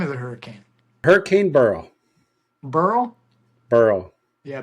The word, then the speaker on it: Beryl: I thought it was barl at first but it was Burl I could never pronounce it so like hurl but Burl yeah okay so I